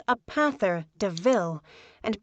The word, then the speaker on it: De Ville: Horace steals Estella a new car called a Panther de Ville, and points out the similarity to the word devil, though it's pronounced DeVille.